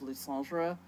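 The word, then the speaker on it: Lysandre: And as I've said before, people wonder where I get the pronunciation of Lysandra. It's from the French version of Pokemon Generations. I figure they would know better than anyone.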